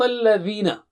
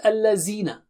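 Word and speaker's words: الَّذِينَ: Sirata, Sirata, Sirata, Sirata, Sirat al-Ladhina. It is not al-Lazina. You have to put the tip of the tongue to the edge of upper teeth.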